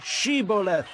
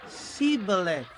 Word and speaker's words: Shibboleth: They said, All right, say Shibboleth. If he said, Sibboleth. Because he could not pronounce the word correctly, they seized him and killed him at the fords of the Jordan.